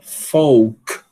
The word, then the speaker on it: folk: Folk. Não pronuncia.